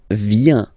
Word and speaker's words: viens: So the first form is je viens. Je viens, okay? Remember this I, viens, viens, and then this nasal, final S not pronounced.